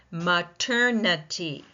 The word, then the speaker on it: maternity: Maternity. Maternity. Maternity. Four syllables again. Which one is being stressed primarily? And if you said the second syllable, you are absolutely right.